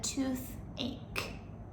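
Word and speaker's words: toothache: say I have a tooth ache and remember the pronunciation with this a h e we pronounce it a with the hard k not the CH sound number five I broke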